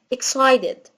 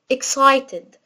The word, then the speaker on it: excited: وممكن هنا التي دي أنطقها دي خفيفة، ليه؟ عشان هي واقعة ما بين حرفين متحركين، فالتي لما تكون واقعة ما بين حرفين متحركين بخلي صوت التي زي دي خفيفة، فأقول excited أو excited.